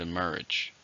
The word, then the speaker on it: emerge: and it's a verb how many syllables in the word emerge to stress in a second emerge new facts emerged about